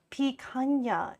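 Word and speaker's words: picanha: Pana is how it's pronounced.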